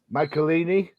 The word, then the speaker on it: Michelinie: It's written by David Michelinie. Did I say it right? Close enough.